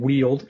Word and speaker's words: Weald: It's reverent is the word, and Weald is correct.